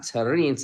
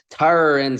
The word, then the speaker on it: Terence: then they're like oh it's not terrines it's Tara and Crawford versus I thought